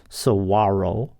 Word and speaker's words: saguaro: year with very few plants or animals Saguaro pronounced Saguaro a large tree like columellar cactus that develops